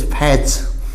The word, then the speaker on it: fetch: इसी तरह FETCH, फैच।